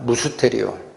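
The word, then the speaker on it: μυστήριον: 그래서 여기 비밀이 비밀이 헬라어 용어로 얘기하면 무스테리온이라고 읽힙니다. 무스테리온.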